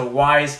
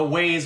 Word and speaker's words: Wyze: And so as soon as I found out on Reddit has a Wyze Cam form on there, and people were going crazy that now Home Depot carries them.